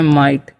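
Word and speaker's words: might: तो यहां पर लिखा हुआ है एम आई जी एस टी। तो इसे हम पढ़ते हैं माइट।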